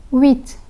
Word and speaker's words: huit: The letter H has been omitted from the pronunciation.